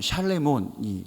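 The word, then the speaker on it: שְׁלֹמֹה: 이 솔로몬의 이름을요, 원래 발음으로 읽으면 샬레몬이 됩니다. 그 이름 안에는 온전함이란 뜻이 그 안에 있는 거예요.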